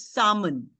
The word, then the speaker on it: salmon: So that particular shade of pink in fact is known as salmon pink. Okay. The L in salmon is silent. So salmon is not salmon. So it's salmon.